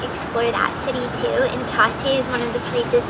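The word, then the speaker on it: Tatte: coffee shops in bakeries it's called Tate I I think is how you say it T a tte e we've been to this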